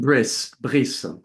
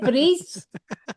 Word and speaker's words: Brice: But You mean Brice. Yes. Brice, is that how you say it? Brice?